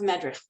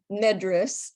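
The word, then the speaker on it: Medres: buy your translation of Madrid it's medris actually is the way he pronounced it and it's m-e-d-r-e-s and you can buy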